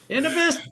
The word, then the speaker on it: Enovis: Enovis. So our corporate entity and how we are traded on the New York Stock Exchange, the company is Enovis.